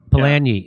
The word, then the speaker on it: Polanyi: You say Karl Polanyi am I pronouncing that correctly? Polanyi? Polanyi, in The Great Transformation, writes that once a